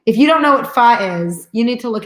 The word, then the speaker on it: pho: P-H-O. Not pronounced pho. Pronounced pho.